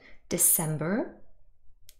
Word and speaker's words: December: the stress december december hopefully you were able to hear that the second syllable is stressed december it is not